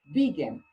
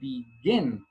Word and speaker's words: begin: we have here, begin, we don't say begin. The stress is not on the first syllable. We say begin. The stress is on the second, or rather, the last syllable, okay?